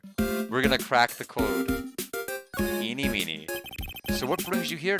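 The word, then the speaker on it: Ini Miney: My name is Innie Minnie. Eenie Meenie. Eenie Meenie. Ah, okay. Now I know how to say it once I read the rest of it. Eenie Meenie as an Eenie Meenie Miny Mo.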